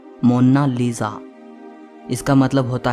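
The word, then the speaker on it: Monna Lisa: कोई इसे मोनालिसा कहता है तो कोई मोनालिसा कहता है, लेकिन इटालियन में इसकी करेक्ट प्रोनाउंसिएशन है मोनालिसा।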